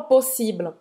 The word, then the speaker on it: possible: Que ela não falou possible, ela falou possible. Possible. É. Ela colocou como se fosse um i no final, porque em português a gente fala isso, né? Exatamente, mas a gente não pronuncia o e no final de possible.